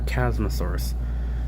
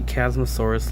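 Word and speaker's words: Chasmosaurus: is a funny term if you see cosmos if they chasm source like in general then you're not saying it right chadzmuth source either way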